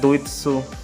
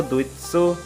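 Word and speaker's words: ドイツ: और जर्मनी को बोला जाता है दुइत्सु।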